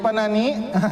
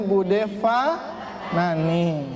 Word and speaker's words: Fanani: Nah, kalau yang orang Jawa Barat tuh Bude Panani. Yang lebih Jawa Barat dalam lagi Panani. Nah, Bude Panani gitu. Itu orang Jawa Barat tuh. Tapi kalau yang udah ngaji tajwid bacanya Bude Fanani. Nah, saya ulang-ulang nih Bu, karena ibu saya suka protes kalau dipanggil Panani. Fa kata. Apalagi ada murid ngajinya tuh. Bude Panani, fa, pakai fa. Gitu bukan?